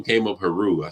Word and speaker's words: HAIRREAU: U and the EA the E and the a is silent so Haru kind of made it kind of like French kind of want to